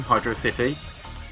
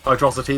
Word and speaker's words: Hydro City: To pronounce it correctly, as it says on the screen, Hydro City. Hydrosity is not a word, as a great prophet once said.